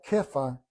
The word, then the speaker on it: Kefa: El nombre de Pedro en griego es piedra y se pronuncia Kefa en arameo.